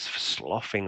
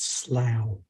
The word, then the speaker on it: slough: Some of its body is sloughing off onto the floor. And it's sort of it's groaning, intensifies momentarily, but then it kind of carries on back to the I think you find it's pronounced slough.